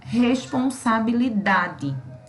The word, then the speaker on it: responsabilidade: Se fosse o li, a pronúncia seria responsabilidade. A gente também não pronuncia assim. A gente pronuncia responsabilidade. Então, o DA é que vai ser a nossa sílaba tônica.